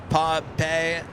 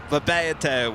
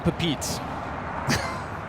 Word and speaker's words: Papeete: Papeete was one of them. Yeah. At least we're not saying Pepite. Because that's what it looks like.